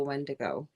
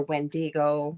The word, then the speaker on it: wendigo: our our banner tonight was the wendigo and or wendigo some people say it differently and if you don't